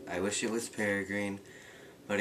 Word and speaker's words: Peregrine: in all of my other videos i was pronouncing peregrine wrong i was saying pear green i wish it was peregrine but it's peregrine don't know why there's an